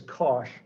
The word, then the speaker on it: cosh: is how people pronounce these this is usually pronounced cinch of x and that is cosh of x at least that's the version i